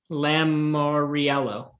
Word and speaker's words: Lamoriello: which is fair because it rhymes with jello so i'm gonna write